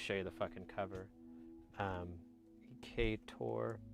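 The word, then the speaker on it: Ec8or: Ecator. So it's spelled EC8 or.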